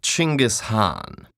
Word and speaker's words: Genghis Khan: First of all, it's pronounced Genghis Khan. Really? In Mongolia, yes.